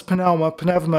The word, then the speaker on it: pneuma: where the Father's pneuma, my sister is Greek, and so I use modern Greek pronunciation, where the Father's pneuma is not just spirit, but, has anybody taught you this?